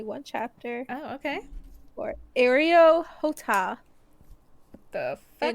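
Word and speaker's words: Areo Hotah: e t a h aroh hot so literally exactly how it sounds okay his other chapters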